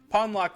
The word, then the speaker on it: Pawnlocke: loocks came to be pwn lock rhymes with John Lock I only kind of